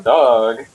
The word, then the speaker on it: Doge: That's how you spell his name, but you pronounce it dog.